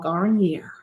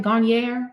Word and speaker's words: Garnier: Garier. Am I saying it right? Garnier.